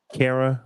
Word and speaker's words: Kara: Kara Rhymes with Sarah.